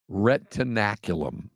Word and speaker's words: retinaculum: It is retinaculum. Retinaculum. It's a torn medial retinaculum, which allows dislocation of the posterior tibialis tendon.